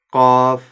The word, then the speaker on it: ق: теперь давайте вместе произнес каф ка ка буква каф твёрдая при её произнесении задействован корень языка который Старайтесь не вытягивать губы Вперёд ко потому что это искажает звук и является ошибкой правильно произносить